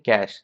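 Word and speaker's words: cache: इसको प्रोनाउंस करते हैं कैश सी एस एच पैसा।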